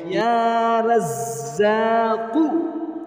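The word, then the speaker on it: يا رزاق: তাহলে আমার সাথে সাথে স্ক্রিনের মধ্যে দেখে দেখে শব্দে শব্দে উচ্চারণটা শিখে রাখুন। ইয়া রাজ্জাকু, ইয়া রাজ্জাকু, ইয়া রাজ্জাকু, ইয়া রাজ্জাক।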